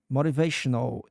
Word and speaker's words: motivational: Motivational is correct. The pronunciation. Yes, you've got it right. The word motivational is pronounced as motivational uh with the emphasis on the third syllable.